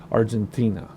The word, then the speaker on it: Argentina: the Atlantic Ocean Argentina the proper way to say Argentina is to add an H after the T Argentina which is hard for